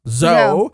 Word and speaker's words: Zou: At least that's how I've been told it's pronounced. Zou.